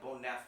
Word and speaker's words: Bonev: It's spelled B ne, but it's pronounced like Bonaf with an F at the end.